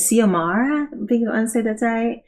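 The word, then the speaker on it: Xiomara: is Elizabeth um the main character's name is siamara but it's with an x-i-o-m-a-r-a Batista um and so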